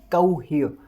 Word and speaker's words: cohere: अब यहाँ पर जो वर्ड स्ट्रेस है वो ह वाली साउंड के ऊपर लगा हुआ है, यानी H के ऊपर लगा हुआ है।